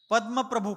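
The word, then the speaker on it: पद्मप्रभ: चंद्र प्रभ चंद्र प्रभु पद्म प्रभु ऐसा जो अपन छठे और आठवे तीर्थंकरों का नामो उच्चारण करते हैं वह बिल्कुल गलत है चंद्र प्रभु नहीं चंद्र प्रभ पद्म प्रभु नहीं पद्म प्रभ चंद्र प्रभु कहेंगे प्रभु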